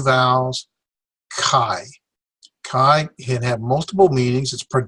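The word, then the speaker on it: καί: 2 syllables, 2 vowels, kai.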